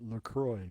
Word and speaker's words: LaCroix: semantics on you but I believe the makers call it Lacroix because they wanted to rhyme with joy some